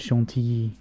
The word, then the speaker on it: chantilly: Now make your homemade chantilly. Yep, that's how it's pronounced.